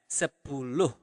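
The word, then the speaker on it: sepuluh: Also for 10 you pronounce the h at the end of the word. So you really pronounce it as sapulu.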